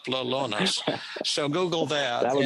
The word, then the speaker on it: Lolonis: p-h-i-l-l-i-p lalonis l-o-l-o that's lolo ness nis lellones so google that that